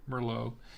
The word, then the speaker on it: Merlot: bardy a bardy and it's a chamberson Mero pronounced chamberson Mero this is a 2022